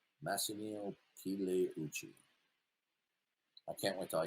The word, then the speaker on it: Massimo Pigliucci: His name is Massimo Pigliucci. The G is silent. Pigliucci. Massimo Pigliucci.